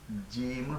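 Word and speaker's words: ج: আপনারা এই এ হা এর নিচে নক্তা এ দেখেন হা এর নিচে একটি নক্তা দিলে জিম হয়ে যায় জিম হয়ে যায় এটার নাম জিম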